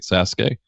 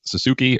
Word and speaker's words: Sasuke: little title card and has the phonetic spelling of great Sasuke which is low-key kind of clever because usually people just call him great Suzuki or great Sassou K and you know phonetically then everybody says it right so they should